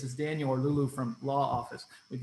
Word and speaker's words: LAA Office: But as Chris did such a good job in doing, we pronounce it LAA Office.